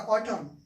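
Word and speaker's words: autumn: रहा है ध्यान दीजिए एम के बाद क्या ए रहा है एन ए रहा है तो एन क्या होगा भाई साइलेंट हो जाएगा याद कर लीजिए एन क्या हो जाएगा एन हो जाएगा हमारा साइलेंट एन का उच्चारण नहीं करना है तो क्या पढ़ेंगे इसको क्या पढ़ेंगे ये हो जाएगा हमारा ऑटम यह क्या हो जाएगा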